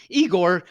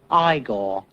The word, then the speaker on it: Igor: Igor. No, it's pronounced Igor.